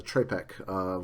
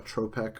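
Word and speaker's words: trepak: Russian dance called the trepek, which actually is pronounced a little differently in Russian. Apparently it's pronounced somewhere like tropek or something like that, but it's often spelled T-R-E-P-A-K.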